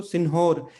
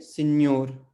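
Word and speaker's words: senhor: अब यहाँ पे इसको सिन्होर, इस एच को पढ़ना नहीं है, क्योंकि जब भी एन और एच आते हैं एक साथ, तो वो मिलकर क्या बन जाते हैं, न्य, ठीक है। और जब भी एल और एच आते हैं वो एक साथ मिलकर क्या बन जाते हैं, लिए, ठीक है, लिए। तो यहाँ पे हम क्या पढ़ेंगे, सिन्योर, ठीक है, सिन्योर।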